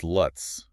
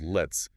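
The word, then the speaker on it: לץ: The word is luts, or sometimes it's spelled lets.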